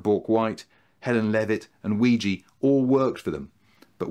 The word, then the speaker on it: Weegee: had a Ouija board, a word that Arthur pronounced and then misspelt as Weegee, just like squeegee, and it stuck.